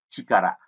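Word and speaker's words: 力: Âm cưng thì chúng ta đọc là chikara.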